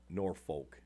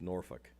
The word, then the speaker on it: Norfolk: Yeah, Norfolk is definitely not Norfolk. It's Norfolk.